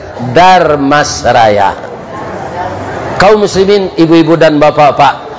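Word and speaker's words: Dharmasraya: Supaya jan patah lidah membacanya, ditambah jo-er, Darmasraya.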